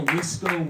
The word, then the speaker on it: WISCO: It's called the Wisco Weekly Podcast.